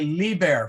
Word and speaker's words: liber: repeat that word no they would say Lee bear for child okay the only reason